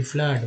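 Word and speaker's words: flood: Double O का देखिए एफ L double O डी फ्लड में डबल ओ का उच्चारण जो है आ के रूप में फ्लड।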